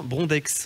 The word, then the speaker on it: Brondex: il y a Sébastien Brondex on dit le X oui on le prononce bonjour Sébastien alors Sébastien